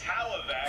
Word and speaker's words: Hlavac: Adam can't even pronounce his last name properly. It's Hlavac.